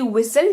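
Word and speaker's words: whistle: ना अगला देख लीजिए अगर किसी शब्द में एस के बाद टी लगा हो तो टी का उच्चारण नहीं करते हैं जैसे की विसल विसल विसल विसल का मतलब होता है ट इसको विटल नहीं पढ़ेंगे इसको विशाल पढ़ेंगे फिर कस्तले कैसल पढ़ेंगे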